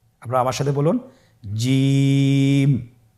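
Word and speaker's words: جيم: যাবে এর মাখরাজ হলো জিহ্বার মধ্যখান তার বরাবর উপরের তালুর সঙ্গে লাগিয়ে উচ্চারিত হয় আপনারা পিকচারে ছবিতে দেখতে পাচ্ছেন যে জিহ্বার মধ্যখান তার বরাবর উপরে তালের সঙ্গে লাগিয়ে উচ্চারণ করতে হয়।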